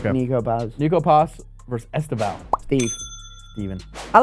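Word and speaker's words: Estêvão: Estevan is 3 syllables.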